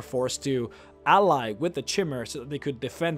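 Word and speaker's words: Chimer: Back then, and we're talking, you know, first era, year 400, the Dwemer used to hate the Chimmer, or the Kimmer. I pronounce it Chimmer.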